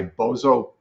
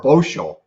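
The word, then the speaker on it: Božo Badanović: he was trained by Bozo Badanovic, I think that's the way you say his name, or Bosho, actually.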